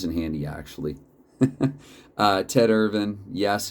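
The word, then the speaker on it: Irvine: handy actually uh ted ervin yes if chris jericho his own son can say his name ted ervin in an aw wrestling ring then that's how i'm gonna say it and uh parise who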